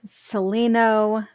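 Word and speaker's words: Celaeno: you maybe mean celino it's c-e-l-a-e-n-o so it's pronounced celino but um the speech to text doesn't know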